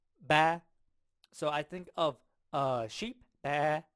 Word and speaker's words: 十: This is how 10 is pronounced in Chinese. 十 And so, no, she, she, she. I think of sheet. I kind of hear sheet out of it.